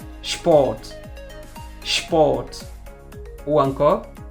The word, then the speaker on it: Sport: Nous avons aussi la combinaison SP qui se prononce SHP. SHP. Par exemple, Sport.